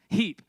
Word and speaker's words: Heap: I'm pronouncing your name is it Heap or Hep Heap we have Emily Heap and seventh grade girls